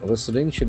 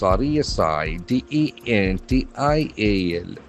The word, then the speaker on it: residential: Residential is another word with multiple syllables. R E S I D E N T I A L. So this letter S is an adjective. Residential. Residential. The letter S has got the sound residential.